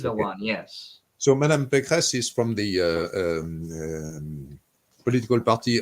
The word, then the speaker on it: Pécresse: Valérie Pécresse, if I pronounce that properly.